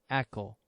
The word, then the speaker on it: ECO: why we called it Echo firstly as everybody know echography is a sound technolog like Echo so we take the same pronunciation Echo like echography for the easy memory the second reason is